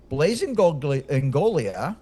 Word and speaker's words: Blaise Ingoglia: be made here Chuck Blaze Engolia by the way the G is not pronounced blazeolia was appointed by